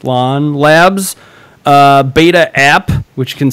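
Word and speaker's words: LAAN: This is LAN, L-A-A-N, presumably pronounced LAN Labs beta app, which can scan in 3D objects.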